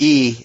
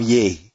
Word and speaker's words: Yi: you come yeah man with e it just looks like it should be ye and if it's spelled